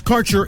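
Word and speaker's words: Kaercher: Quality cannabis Insurance Services is spelled k AE e r c h e r that's carer insurance we have worked with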